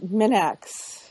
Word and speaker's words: Minax: want to be rude but it is minx Minx yeah is it all right